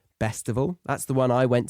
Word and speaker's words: Bestival: So check out the likes of Glastonbury Festival, Reading and Leeds festivals, the Isle of Wight festival, Bestival, spelt with a B, Bestival.